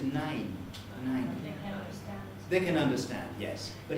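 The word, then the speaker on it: nein: your name sorry alexa alexa is saying nine nine and we we would anglicize that as nine nine this is certainly wrong for germans what they want is nine they can understand yes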